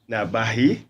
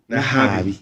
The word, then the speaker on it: Nahabi: our midst, Madam Sarah Nabahi. Have I pronounced it well? I can pronounce it. Nahabi. Yeah. Oh, sorry, I said it the other way around.